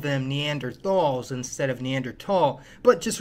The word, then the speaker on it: Neanderthal: we all called them Neanderthals instead of Neanderthal but just remember Neanderthal is a German word and the Germans aren't too good at pronouncing the th sound Neanderthals were the dominant